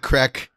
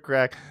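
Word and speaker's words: craic: Yeah, had some good crack. They're all hooked on crack over there, but it's spelled C-R-A. No, they smoke crack. Yeah. C-R-A-I-C. That's their word for fun.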